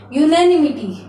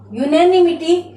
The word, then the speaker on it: unanimity: इसका उच्चारण क्या होगा? देखिए, यूनैनिमिटी, यूनैनिमिटी इस शब्द का उच्चारण होगा।